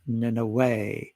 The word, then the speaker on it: Nineveh: So it ends in Vav Hey, same as Yahweh, and it's pronounced Nineveh, just as Moshe and Yefuneh and many other people in Scripture.